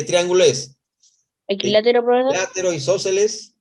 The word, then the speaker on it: isósceles: ponemos, es un triángulo isósceles. Entonces, Triángulo isósceles. ¿Isósceles lleva tilde? Sí, ¿no? Sí lleva tilde, ¿no? Si no dijera isósceles, ¿no? Isósceles, ahí está, sí lleva tilde. isósceles. Estrújula, ¿no?